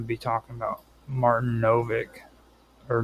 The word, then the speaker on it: Nowak: And I'm going to be talking about Martin Novak, or Novak. It's spelled with a W, which I used to always call him Nowak, German sort of thing, yeah.